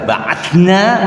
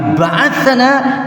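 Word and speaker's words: بَعَثَنَا: An Usamata ibni Zaid dari Usama bin Zaid radhiyallahu anhuma, qala ba'athana Rasulullah sallallahu alaihi wasallam. Ini membacanya hati-hati. Kalau dibaca ba'athna berarti kami telah mengutus. Tapi ba'athana dia telah mengutus kami.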